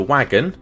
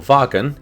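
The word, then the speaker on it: Wagen: bit of sense now the W stands for wagon or wagon if you're using the correct German pronunciation so Mercedes only use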